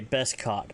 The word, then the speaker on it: beskad: That would be a curved saber or a beskad.